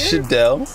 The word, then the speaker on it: Shidel: But it's pronounced Shidel. If you ever call me Shidel, I will run my hand through your fucking face.